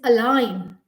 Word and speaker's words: align: word with a is align a l i g n the g is silent over here always says align a l i n so silent letters continue